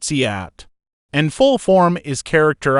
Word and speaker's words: cout: The cout is pronounced cout, and full form is character output.